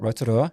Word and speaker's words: Rotorua: Rotorua, is that how you say it? Rotorua, yeah.